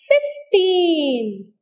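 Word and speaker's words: fifteen: so these are called teen words so these teen words get the stress on teen only like 15 30 like that there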